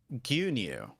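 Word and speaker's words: 牛乳: First off, we have milk, which is pronounced gyunyu.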